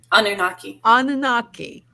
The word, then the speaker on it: Anunnaki: Anunnaki? Anunnaki. Thank you, Trish. Thank you, because you know me with my pronunciations.